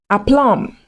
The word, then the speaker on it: aplomb: So you need to learn how to pronounce these words naturally without the B.